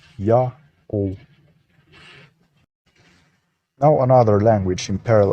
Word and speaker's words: Ya'oh: text like this one the first leap is read as ya the next glyph is a vowel placeholder only treated as silent and the terminal w is a matter o vowel thus it's read as ya o now another language in